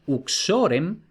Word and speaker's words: uxorem: pero luego, por ejemplo, el acusativo es uxorem porque la o sea, es decir, la sílaba xo, que es la penúltima, tiene un macrón. Por tanto, si la penúltima tiene un macrón, es larga, lleva el acento.